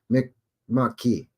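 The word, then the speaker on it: Mi'kmaq: uh the uh pronounce Mick Mack well that's how everybody says it Mick Mack but it's Mick Ma it's me come on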